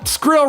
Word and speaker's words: skrill: You know, skrill rhymes with chill, and I'll tell you there is nothing chill about Weird at Night.